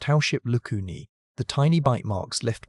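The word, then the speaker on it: Howship's lacunae: Scattered through it were microscopic resorption pits called house ship lacuni, pronounced househip lucuni, the tiny bite marks left by cells that demolish bone during remodeling.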